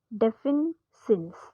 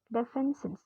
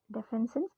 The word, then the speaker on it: defensin: write that down somewhere defin sin I'm sorry for mispronouncing this def sin d e f n s i ns defens defensin defensin which are able to